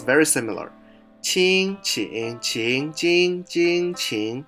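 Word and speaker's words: 精: If you add the rice radical, it means spirit, but the pronunciation changed a little bit, jing.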